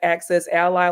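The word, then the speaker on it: AccessAlly: access Ali excess Illinois I thought it was Ali at first it's like access Ally like an ally as a friend yeah I've struggled and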